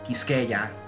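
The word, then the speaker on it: Quisqueya: Santo Domingo or it was called I'll spell it for you that's a q u i s q u e y a kiskeja so I'm a lover of History deal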